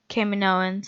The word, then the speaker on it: Kaminoans: Camino was really cool and I liked the Kaminoans that's how you pronounce them so I think I'm gonna I